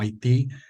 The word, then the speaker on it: Haití: básicamente significa tierra montañosa deletreado así como lo ven ustedes en pantalla haiti ellos en su en su manera de pronunciarlo lo lo establecieron como Haití de la forma en que lo conocemos hoy en día y así y